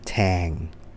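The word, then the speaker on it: tang: ที่ เบา กว่า ู แทง นะ ครับ t a แง นะ ไม่ ใช่ TK Tank นะ ครับ คน ละ ความ หมาย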